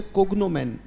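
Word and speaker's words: cognomen: भी होता है, बोले कोग्नोमेन, शाबाश, बोले कोग्नो, सही कर लेते हैं बेटा, कोग्नोमेन, बोले शाबाश, उच्चारण ठीक करेंगे, बोले कोग्नोमेन, बोले शाबाश, कोग्नोमेन.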